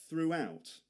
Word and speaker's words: throughout: See the W sound in the middle of that?